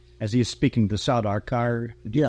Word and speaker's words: Sardaukar: Not as he is speaking the Sardaukar. Did you pronounce it? The Sardaukar.